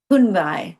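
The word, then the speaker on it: Kun Bai: Kunbai.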